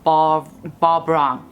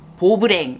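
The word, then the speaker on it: Beau Brun: And then for the center, I'm going to take this Bourjois Rouge Edition Velvet number 12 Bobrang. Bobrang, that's how you pronounce it in Korean. Bobrang.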